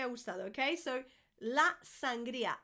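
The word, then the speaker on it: sangría: Another one for the restaurants, those wine lovers, sangria. Sangria. I can't think of anything worse. You guys know I don't drink, but sangria is just no, nunca me ha gustado, okay? So, la sangria, sangria, sangria.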